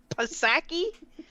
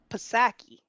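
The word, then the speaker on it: Psaki: Pasaki?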